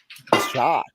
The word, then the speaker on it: Dschaak: Oh, Casey DeShock from Beulah? Shock. That's how it's pronounced.